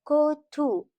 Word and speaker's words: kötü: In Turkish, kötü mean box, but kötü means bad. It's o and ü, not o and o.